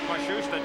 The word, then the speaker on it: Matsushita: By the way, the pronunciation on Matsushita, that is now how his team says they'd like it used.